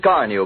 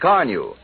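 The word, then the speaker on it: Carnu: You've probably heard people say, your car looks like new when you use Carnew. You'll be saying it yourself first time you use Johnson's Carnew on your car. Carnew is spelled C-A-R-N-U.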